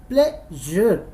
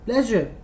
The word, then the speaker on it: pleasure: All right, so what will be the pronunciation of this word, it's my pleasure. All right everyone, it's my pleasure, pleasure, it's my pleasure।